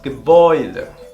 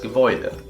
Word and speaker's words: Gebäude: A umlaut con U se va a pronunciar de la misma manera. Hoy. Como por ejemplo, das Gebäude. Das Gebäude.